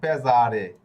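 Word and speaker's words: pesare: হয়ে গেছে মেজে এরপরে এইযে দেখুন পেজারে এইযে এস অক্ষর এস অক্ষরের আগে একটা বোকালে আবার এস অক্ষরের পরেও একটা বোকালে এজন্য এটা জ এর উচ্চারণ হয়েছে হয়ে গেছে পেজারে ওকে তো এস অক্ষরটি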